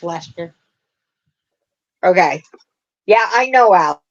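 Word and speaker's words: Leicester: the blue face light light tester light tester I can't say it that way I I always put the extra syllable in there yeah it's just Lester okay yeah I know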